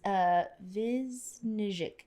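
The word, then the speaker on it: Višnjić: It's Vizhnich, but he is from ER.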